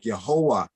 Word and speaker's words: Jehovah: So when one say like the word Jehovah would have been pronounced like Yehovah, Yehovah.